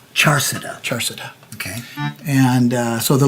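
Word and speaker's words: Charsadda: Charsada. Charsada.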